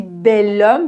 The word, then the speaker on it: homme: OK, ici bel homme parce que H ne se prononce pas.